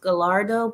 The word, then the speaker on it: Gallardo: Aventador and the Gallardo I call it Gallardo but it could be pronounced galardo but I prefer to call it Gallardo those two are my